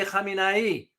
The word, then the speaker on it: Khamenei: Now, there's a big pronunciation difference here. Khamenei, the current one, Khomeini was way back.